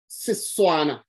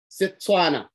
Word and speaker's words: Setswana: T interchangeable with the S. That's why the T will be pronounced as an S sound. Setswana. Setswana.